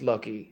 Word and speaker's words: Loki: trying to define if it was Loki or Loki, and then I realized I'm an idiot because Loki Horror Picture Show. Yeah, but it's a tricky one because I'm named after Loki, but it's pronounced Loki.